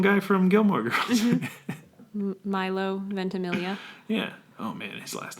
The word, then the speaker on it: Ventimiglia: Milo Ventimiglia. Yeah. Oh, man, his last name is so long. I only know because I've heard him say it. Ventimiglia?